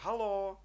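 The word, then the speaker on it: haló: далі покрачуєме да так бачимо о довге так Або одовге у слові гало Галло ви здогадалися що це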